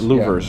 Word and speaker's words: louvres: I don't know how to call them pronounce that. scoops. Louvers.